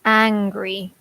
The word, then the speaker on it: angry: they're not the same we have an O and an AH mm-hmm so hungry and angry yeah so yes the difference is the H but also the vowel sound is different right yeah so I don't